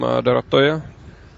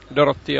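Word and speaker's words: Dorottya: Very good attempt from Dorotoja. Dorotia, I believe, is actually how you pronounce her name.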